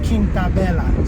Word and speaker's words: Quinta Bella: It's Quinta Bella, not Quinta Bella.